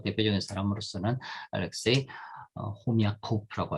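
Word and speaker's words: Хомяков: 그 중에서 가장 뭐 대표적인 사람으로서는 알렉세이 호미아코프라고 할 수 있어요. 액센트 제일 마지막에 들어옵니다. 그래서는 흐미코프라고서는 그렇게 뭐 러시아로서는 발음될 겁니다.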